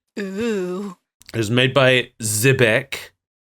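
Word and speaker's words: Xebec: it was made by zebec I think that's how it's pronounced it's spelled with an X okay uh who they're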